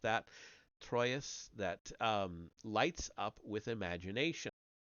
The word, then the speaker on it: Troyes: The episode is described in a passage by Chrétien de Troyes. I know I mispronounced that. Troyes, that lights up with imagination.